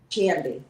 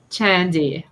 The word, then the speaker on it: Chandi: So, what do you like um what do you like it to be pronounced? Shandi or Shandi? Chandi. Chandi.